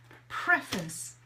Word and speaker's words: preface: preface to this so preface so imagine you have this sound the preface the face is a different word but preface is how we would pronounce it the preface yeah good